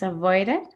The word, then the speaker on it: avoided: Pronunciation is avoided. Avoided, yes. Remember that whenever the verb ends in T or D, in a T or D sound, you pronounce it like visit, visit, edit, edit, avoid, avoid.